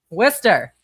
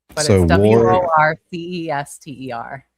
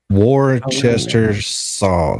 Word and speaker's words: Worcester: Proctor went to college in Worcester. So, like I know people that went to college with him. Worister or Wister Shower? Worcester.